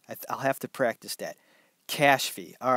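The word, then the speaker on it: Kashfi: okay here we go it's spelled maybe you can help me out kay a s H F I cash fee okay maybe if you say it's slow enough it works better cash fee I'll have to practice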